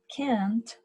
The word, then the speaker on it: can't: can't with the contraction make sure you pronounce the T at the end otherwise it will understand that you're saying Kim so can and can't